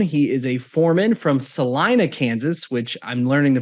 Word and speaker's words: Salina: He is a foreman from Salina, Kansas, which I'm learning the pronunciation correctly now. I was saying Salina before, so thank you, Kodie, for helping us out, and thank you for joining us today.